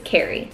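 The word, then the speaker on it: Carey: Voices Carrie, which makes sense, but Carrie spelled like C-A-R-E-Y.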